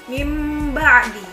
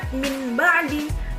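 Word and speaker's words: مِنْ بَعْدِ: Nah, contohnya mim ba'di. Jadi bukan min ba'di, tapi mim ba'di, seperti membaca huruf mim.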